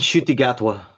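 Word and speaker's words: Ncuti Gatwa: I really need to get into pronounce the name again, In please. Shutigatwa.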